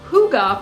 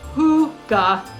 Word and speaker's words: hygge: Now, Hygge, pronounced Hygge or Hygge as the Norwegians would call it, is all about coziness, connection, and contentment, finding beauty in the simple, everyday moments.